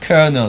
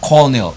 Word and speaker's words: kernel: a worm wrm and kernel co and co l un e l kernel kernel not Cornell kernel and we have in